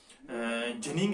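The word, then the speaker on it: ginning: Example में दूंगा, जिनिंग है, जिसको आप गिनिंग पढ़ती हैं, उसकी प्रोनाउंसिएशन है जिनिंग है, वीविंग है, स्पिनिंग है, या और कुछ टर्म्स है इसमें, वो आप याद रखेंगे।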